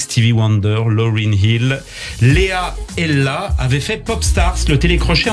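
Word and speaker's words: Ehla: Chanteuse, elle aussi, Ella. Alors, ça s'écrit E-H-L-A.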